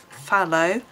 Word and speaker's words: phthalo: a l o on my polychromos the word fallow is spelt p h t h a l o